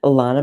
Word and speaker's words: Lana: to say my name I say Lana rhymes with Donna I'm GNA remember that